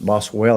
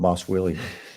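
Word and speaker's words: Boswellia: this one yeah yeah we pronounce it bosswell and not boss will I'm always making B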